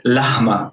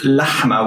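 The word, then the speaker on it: لحمة: writing lahma like this a non-arabic native speaker may think it's lahma but it's not lahma it's lahma with the high end there with a guttural letter in there so to pronounce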